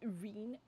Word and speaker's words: Rin: Look how dramatically Rin died. I think you'll find it's pronounced Reen.